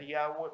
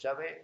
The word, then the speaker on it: Yahvé: Se suele pronunciar Yahweh, pero es Yahvé o Yod Hei Vav Hei, que en Éxodo, cuando